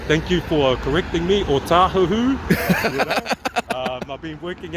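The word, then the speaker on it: Ōtāhuhu: O tahuhu. You know? I've been working out Howard too long. Yeah, people, but yeah, pronounce it right.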